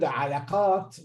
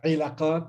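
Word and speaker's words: علاقات: So the word alaqat, which means relationships or relations, was by some people pronounced ilaqat and some people ulaqat.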